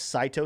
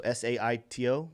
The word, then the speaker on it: Saito: We got one from Monica T saying, okay, so this coin is pronounced Saito, so S-A-I-T-O, Saito.